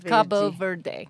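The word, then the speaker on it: Cabo Verde: it wrong too right how do you supposed to say Cabo ver Cabo ver yes I'm when my husband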